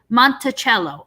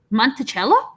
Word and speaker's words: Monticello: the whole the whole montello as a whole monticello oh it's pronounced like that monticello interesting um but he describes it as um